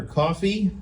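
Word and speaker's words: Ko-fi: donations of patreon or coffee see I said it right you did um cuz I spelled it coffee on the note so I would SP it that way uh we have merch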